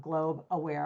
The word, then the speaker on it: Globe Aware: Spotify, all that with Globe Aware. A lot of people say global I think make it two syllables but it's just globe awar.